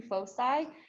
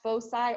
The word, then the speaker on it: foci: so one focus two foci and technically this can be pronounced foci or foci either one is correct um and you guys